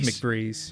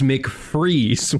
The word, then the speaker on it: McVries: oh, you're right, it is McVries. I read the whole book out loud to my wife with my own pronunciations for everything. No, yeah, I because hundreds of writing pages. it down, I was like, "There's no way that's right." Yeah, because I thought it was McFreeze when he first said it in the movie.